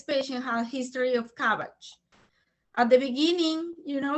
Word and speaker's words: CABG: O sea, este paciente tiene una historia de CABG. CABG también, si ustedes buscan, tiene una, digamos, una pronunciación similar a un vegetal. que no me acuerdo, es como repollo, si no estoy El mal.